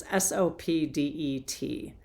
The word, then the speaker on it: Sopdet: You may be in my pronunciations. It's Sopdet, the goddess queen of Sirius.